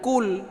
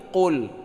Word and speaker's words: Qul: salah tapi Mi Qul Qul ini bukan KL tapi Qul Ya jadi ka qo